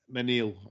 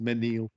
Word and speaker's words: Mesnil: I bet Gallard de Mesnil, and I'm thinking Menil. I know people don't pronounce the S. Menil.